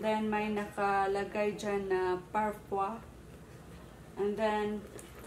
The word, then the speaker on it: Parfois: Sabi ni Google, tinanong ko si Google kung paano siya babasahin. Sabi niya, it's Parfois. I don't know if correct ba yun. Basta sabi niya, Parfois.